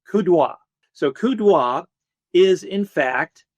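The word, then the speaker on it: coup d'œil: Napoleon, he had what was called kudo, which is a fancy French word which a lot of Americans say cupy oil. Okay, kudo.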